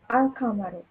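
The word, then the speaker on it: القمر: with the lunar letters example alcamaro sorry the moon is pronounced alcamaru uncommon here are some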